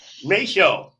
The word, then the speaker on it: Maeshowe: Maeshowe.